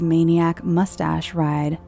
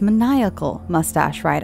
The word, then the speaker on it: Maniacal Mustache Ride: distinctly and back in is Maniac mustache ride oh it's maniacal mustache ride I apologize maniacal mustache ride I got your name wrong I grew up